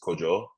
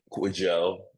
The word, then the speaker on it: Kwajo: I'm ghanian um and the actual pronunciation of it is coo uh but I kind of Americanized it in a way I knew that off